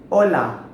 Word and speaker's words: hola: Hi means HOLA HOLA Why its Hola because "H" is silent in Spanish language So its HOLA HOLA